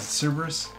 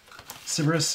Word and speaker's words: Cerberus: Am I pronouncing that right? Is it Cerberus?